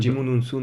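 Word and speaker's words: Djimon Hounsou: Jimon Unsun. Non, pardon. Jimon Unsu.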